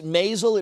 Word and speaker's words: Maisel: I tell you what, it is Maisel, it rhymes with basil.